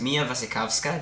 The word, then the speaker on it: Mia Wasikowska: Wonderland and through the looking-glass and it stars mia wasikowska that's how you pronounce her name I looked it up Johnny